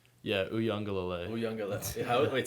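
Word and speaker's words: Uiagalelei: Yeah, Uyunglele.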